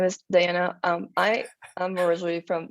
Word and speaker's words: Diana: yep my name is diana um i i'm originally from mexico city so i do pronounce my name in spanish so i say diana